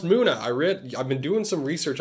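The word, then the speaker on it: Munna: It's pronounced Muna.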